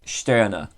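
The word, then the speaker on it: Stirner: max sterner i have oh no it's not pronounced like that i was told that it's pronounced sterner so um you know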